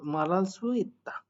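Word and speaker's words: 말할 수 있다: এখানে মালহাল বলতে পারেন কিন্তু এখানে রিউলটা তুলে উচ্চারণ করবেন হিউদের কাছে রিউলটাকে নিয়ে যেয়ে বসাবেন হিউটা ভ্যানিশ হয়ে যাবে রিউলের উচ্চারণ ধরবে তো ঋউলের উচ্চারণ উপরে বসলে র হয় র আকারে রা আর আর নিচের ল রিউল তাহলে কি হয় মারাল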